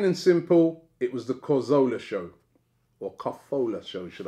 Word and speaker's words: Cazorla: Adam says, plain and simple, it was the Cazorla show.